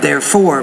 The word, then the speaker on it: therefore: Therefore, if you try to... I would say that not therefore, but just therefore. You can put stress on the first syllable even.